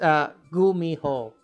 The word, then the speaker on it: Gumiho: It's Gumiho. It's Korean. Kumiho. Gumiho.